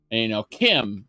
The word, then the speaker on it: CHIM: And he says chim, and Lady Nerevar responded with something like, "I'd like to think you were just ignorant, but Kirkbride's original, like his interpretation was, Kim, as in chimer, as in chimera, and as far as I know, he didn't respond to that.